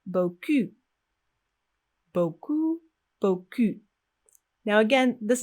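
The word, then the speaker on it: beaucoup: if you speak french you could say boku with our first u sound and that means a lot now if we change the vowel sound and only the vowel sound it sounds like boku boku boku now again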